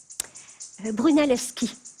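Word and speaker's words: Brunelleschi: architect sculpteur italien brunalski je sais pas si c'est brunell ski brunellet chi ski non vous l'avez prononcé parfaitement ça s'écrit chi mais ça se prononce qui voilà moi je connais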